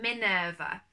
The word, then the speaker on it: Minerva: are wondering it's mi n ER V so Minerva I'm making this video today just to tell